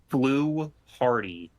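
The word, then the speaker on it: Fluharty: I How do you pronounce it? Flu Hardy.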